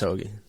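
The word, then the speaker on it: Højgaard: Yeah, I mean, you got Fleetwood and Hogue or Hoagie. I can never pronounce whatever his name. They have both those guys at 6. Yeah, it's Hoagie.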